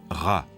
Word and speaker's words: Ra: soleil et Champollion sec en copte il se prononce RA en bas une lettre